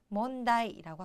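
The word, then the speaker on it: 問題: 되었어요 문제 문제 뭔데 몬다이라고 하죠 그런데 자 일단 제 자는 문자는 뭐 뭐 약간 바른 비슷하지만 제 자가 좀 특이해요 발음이 나이 나이거든요 그렇기 때문에 약간 헷갈리시는 분들도 계십니다 하지만 셋째는 무조건 나이라고 읽는다라는 거 기억을 해 두시고 꼭 외워 두세요 왜냐하면이 제자는 정말 많이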